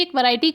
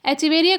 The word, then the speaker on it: Echeveria: हो, इसको एचिवेरिया की एक वैरायटी कहेंगे। एचिवेरिया का प्रोनाउंसिएशन अलग अलग हो सकता है, कुछ लोग एकिवेरिया बोलते हैं, कुछ एचिवेरिया बोलते हैं।